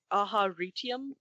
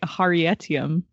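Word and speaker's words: Aharietiam: Aharitium? I would go Aharitium. I say Last Desolation. I am very different from you guys. I say Aharietium. Whoa.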